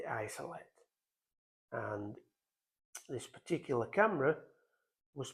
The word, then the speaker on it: Jsolette: It's the Agfa Jsolette, although it's quite often spelt with the old German capital I, which looks like a J, but it is the Jsolette.